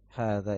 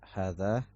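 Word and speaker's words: هذا: Hadza ini ditulis dengan fathah, ya, tapi tidak ada mad ya, tapi dalam membacanya harus ada huruf mad. Jadi jangan antum baca hadza ya, hadza salah. Jangan antum baca pendek ya hanya. Hadza itu salah, seharusnya hadza.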